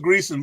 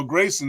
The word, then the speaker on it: Greason: you good you good everybody says gson but you know Grayson is the right one that's all good all